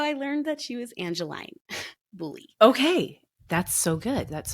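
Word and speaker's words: Angeline Boulley: there's a website where you can go hear how people Oh, pronounce their names. And so I learned that she was Angeline Bully.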